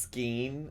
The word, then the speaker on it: skein: It's pronounced skein.